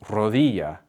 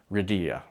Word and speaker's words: rodilla: So instead of saying rodilla, they might say rodilla.